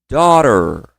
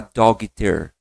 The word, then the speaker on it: daughter: Depois comigo, ó, daughter. Então, gente, olha só. Ignora esse G e H. Ele só aparece na escrita. Na fala você não vai falar doitter, dogter não.